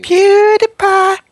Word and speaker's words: PewDiePie: I hate his name because it's hard to pronounce. It's like, at least to me. PewDiePie!